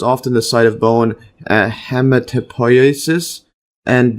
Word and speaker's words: hematopoiesis: Or Bursa Fabricii is the site of hematopoiesis. Let's see the pronunciation again.